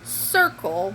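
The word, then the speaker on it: Cirkul: got this thingy okay it's called circle but it's spelled weird like it's C I are kul and it is I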